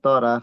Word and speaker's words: تر: এই তা র, এখানে রটা যেন রা না হয়, আবার তোরা যেন না হয়, এটা যেমন জি আবার তোয়া না হয়, এটা খেয়াল রাখবেন।